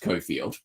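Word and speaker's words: Cockfield: school because it was it was spelled C O C K Field and pronounced Koffield but the um the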